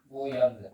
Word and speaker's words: 무연근: 무연근. 자, 발음에 유의하세요. 아시겠죠? 연근이야. 알겠지? 소용이 없다는 뜻이야.